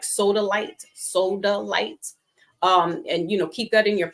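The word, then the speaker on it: Sodalite: It looks like soda, SODA, and it's LITE, soda light.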